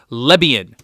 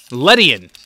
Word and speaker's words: Lydian: holo and they let a Libyan let it go Lydian I pronounce the D is a B that's alright a Lydian